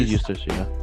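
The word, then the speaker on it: Eustass: got edith edis uh pronounced his name wrong i think it's edith's not useless is it useless it's usually useless okay use this captain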